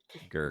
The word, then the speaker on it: Grk: It's spelled GRK, Gurk.